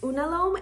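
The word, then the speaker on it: unalome: time I did know what I want it's pronounced unalom and the reason why I got this tattoo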